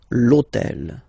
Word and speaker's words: l'hôtel: purpose this hôtel, okay, because it starts with H, but remember that in French we don't pronounce H, okay, so basically the first sound of the word is the vowel O, okay, so for the same reason, needs to disappear.